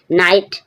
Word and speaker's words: knight: नो, no means है जानना, नो, no means जानना, KNOW, यहाँ पर भी के साइलेंट है। नाइट, नाइट मीन्स योद्धा, NIGHT नाइट मीन्स रात होता है, नाइट means KNIGHT नाइट means योद्धा।